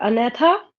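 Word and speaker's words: Agnatha: यहाँ पे ना जी साइलेंट होता है, अनैथा, और दूसरा यहाँ पे है नेथोस्टोमाटा।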